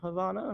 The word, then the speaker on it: Havana: bit more brawl on havana or how do you say it again remind us the viewers at home beautiful beautiful it's a long a yeah but we are